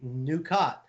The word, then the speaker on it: Nukat: Simon and Rufus are back at it this Friday, making the totally new and created on the spot Star Trek story Nukat. Rhymes with Ducat.